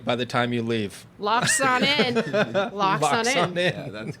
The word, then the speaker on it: Laaksonen: I say it like Laaksonen. Laaksonen. Got it. I guarantee you I'm going to get it right by the time you leave. Locks on in.